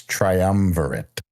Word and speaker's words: triumvirate: They keep thinking you're trying to say triumphant. It's triumvirate. That's what I said. Maybe it's just a pronunciation thing.